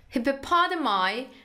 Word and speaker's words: hippopotami: جمعش رو به تلفظ جمعش دقت کنید. هیپوپادامای هاف شورت لگز اند تیک دارک گری اسکین.